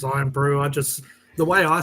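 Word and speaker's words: Irn-Bru: Yeah, the English, the Americans say earn brew. They're like, it's iron brew, not earn brew.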